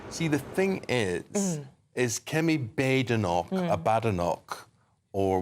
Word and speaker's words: Badenoch: Or what she says there's no bad in her name. Did she? Oh, I'm glad you yeah, now I know, yeah. Because I hear it pronounced so many different ways, and I didn't know if there was... I get it muddled as well, but I heard her say there's no bad in Badenoch.